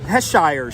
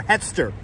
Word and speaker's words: Hester: So come down to 119 Heshire Street, or I always forget how to pronounce that, or Hester. 119 Hester Street.